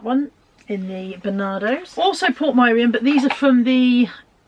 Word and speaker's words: Portmeirion: Yeah, Portmeirion. Lex says it's pronounced Portmeirion, so I do apologise if you live there and I've been mispronouncing it.